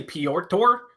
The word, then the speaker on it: Petr: his first name some some just go peter some say pior tour some say petra is i think the correct way to say it but everyone just says peter i don't think he